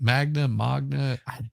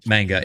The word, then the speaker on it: manga: kinds of anime and Maga what is it Magna Magna uh manga m-a-n-g-a it's kind of a weird pronunciation but yeah yeah see